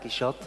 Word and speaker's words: Quixote: And finally, there's a kind of a secret working to the title Quixote, because both in French and English you pronounce it like that, Quixote.